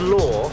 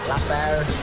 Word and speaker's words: Laugher: Pronounced Law? Yeah. Definitely not spelt that. What have you heard over the years from people? What have you been called? Laffer, Lawer, Laughter, Laugh.